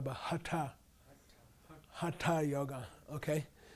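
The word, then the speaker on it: हठ: mandolin pandita okay pandita not hatha yoga but hata hata yoga okay not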